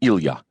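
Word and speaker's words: Ilya: When friends called him Ila, it was with the proper Russian pronunciation with the accent on the ya.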